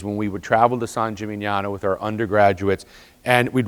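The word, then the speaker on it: San Gimignano: of you have been to the cathedral in San jimano now let's all say that together s Jim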